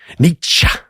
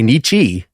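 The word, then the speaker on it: Nietzsche: in your thing you could just say throw nietzscha and just kind of say that and then that would probably be enough that people would be like yeah wow most snotty pronunciation possible but if you say it wrong if you say Nichi canceled you're done maybe I'll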